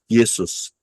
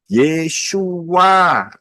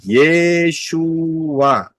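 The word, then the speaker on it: Yeshua: Kenapa ya saudara lihat aja pengajaran Yesua versus Yesus? Pilih mana. Perhatikan aja itu ya. Ini bukan soal menyalahkan, tetapi saya harus menyatakan yang benar. Yang benar itu adalah yod, shin, wau, ayin, Yesua. Ya, Yesua.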